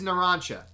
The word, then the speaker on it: Narancia: I was calling him Narancia for sure. Narancia. Yeah? Now he's Narancha.